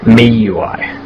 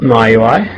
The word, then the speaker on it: MIUI: Anyway, um I think well the rumor word on the road is that it's actually pronounced MI UI, but I think I'll still call it my UI simply because Australians just do everything the wrong way.